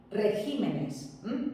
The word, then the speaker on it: regímenes: Régimen, que es esdrújula, pero en plural es regímenes, no regímenes, sino regímenes. Sigue siendo esdrújula, pero he movido la sílaba tónica.